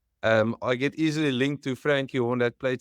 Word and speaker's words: Francke: Well, it's actually, so obviously I know people call it Frankie, but it's actually Francke.